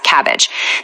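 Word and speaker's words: CABG: And fun fact, it's incredibly pronounced in hospitals as cabbage.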